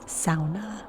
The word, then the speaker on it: sauna: my finish lesson that the proper pronunciation for the word sauna is sauna which i thought was